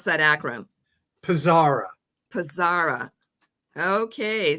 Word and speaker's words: PSARA: having me brenda and so how do i pronounce that akron pizzara pizzara okay sounds good so now that i